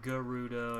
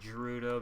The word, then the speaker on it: Gerudo: i had put here is placeholders apparently it's pronounced garuda and i'm been mispronouncing it my entire life but i still say gerudo because it's it's pronounced jerry and uh germany